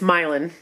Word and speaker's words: Milan: caught our attention um and it's milan yes not milan like italy it's not like italy it's milan but it's spelled the same uh and there was